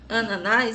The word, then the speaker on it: ananás: O ananás, os ananases. Tá vendo que ananás, a sílaba tônica, é a última?